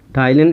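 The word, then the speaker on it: ptyalin: तो इनके बारे में देखो, जो टाइलिन होता है, टाइलिन इंग्लिश में लिखेंगे तो पी इसमें साइलेंट होता है, पटाइलिन लिखा जाता है।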